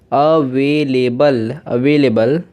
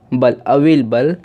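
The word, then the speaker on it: available: लेकिन ज़्यादातर इसे क्या कहते हैं लोग, ज़्यादातर इसको प्रोनाउंस ऐसे करते हैं कि यहाँ पे जो ए है इसे साइलेंट कर देते हैं, यहाँ पे जो ए है इसे साइलेंट कर देते हैं और बन जाता है ये अवेलेबल। यहाँ पे ए साइलेंट कर देते हैं। लेकिन आप दोनों तरीके से पढ़ सकते हैं, दोनों ही तरीके आपको बिल्कुल राइट है।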